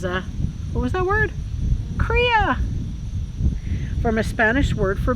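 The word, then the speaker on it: cria: are they they're called kriyas does it pronounce korea or crya kriya said the voice from beyond who's always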